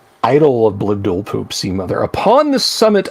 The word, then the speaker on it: Blibdoolpoop: If the extended left claw is grasped while the individual stares upon the altar, and her name is pronounced correctly, Blibdoolpoop, then the creature is immediately transported to the deep waters of the plane where the Sea Mother holds court.